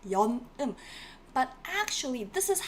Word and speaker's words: 연음: We pronounce it as that, right? 연음.